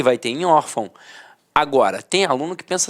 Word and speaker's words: órfão: de nasalização até porque se fosse um assento gráfico eu não falaria órfão eu falaria orfão e não é o caso nós falamos órfão então a sílaba tônica